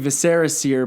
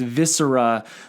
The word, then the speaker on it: Viscera Seer: was telling Eric that I've been saying it wrong all these years we've been saying Viserys seer but it's viscera like your organs yes yes so anyways